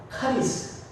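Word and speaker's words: χάρις: 은혜는 뭐냐면 카이데이트와 비슷해요 그 발음은 카리스 카리스라는 말 많이 들어보셨잖아요 그게 은혜예요 그리고 평강은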